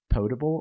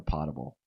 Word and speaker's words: potable: And do you pronounce it potable or potable water? I say potable because it would be potable if there were two T's.